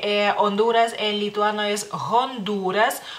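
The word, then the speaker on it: Hondūras: Honduras en lituano es Honduras Honduras y la u es larga tiene un palito digamos así una rayita para que si si no la ponemos sería Honduras Honduras y no es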